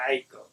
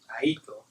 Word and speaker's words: Aiko: I say Aiko. Aiko. Like, try to pronounce it in the term. I try to pronounce it in the term of her language.